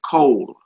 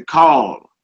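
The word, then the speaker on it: כל: for all, every, or the whole, and you pronounce it cold. Cold. Cold. All right. It's the kaf and the lamed. Cold. Cold. Some people say call, like you're making a call, but cold.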